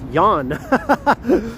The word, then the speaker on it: Jan: happy New Year Ken your name is pronounced Yan I remember that now